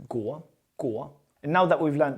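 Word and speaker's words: 国: Now, this gets pronounced gu.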